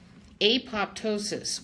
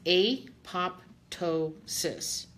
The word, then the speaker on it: apoptosis: there's a big word apoptosis what is a pape tow sis and I like to say it like that because I want people to understand it and be able to remember that word it's a fun word